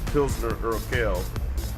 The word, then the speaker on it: Pilsner Urquell: Both of those was two good beers, and then also you have Pilsner Urquell. That's how you pronounce it.